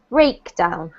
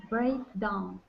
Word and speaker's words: breakdown: pronounced it correctly but the emphasis should be on the first syllable so a high stress breakdown break down yeah so less emphasis